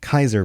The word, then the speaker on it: Caesar: I think what he's saying here is Kaiser has, I always want to read it Caesar, but it's Kaiser pronounced in the game.